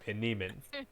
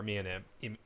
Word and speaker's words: Eminem: In Neiman. Or Eminem. Eminem? Eminem. Oh. Eminem. Okay, that's how you pronounce it.